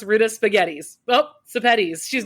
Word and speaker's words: Sepetys: And an easy way to remember how to pronounce my last name is that it rhymes with spaghettis. So if you think Ruta Spaghettis, you can pronounce Ruta Sepetys.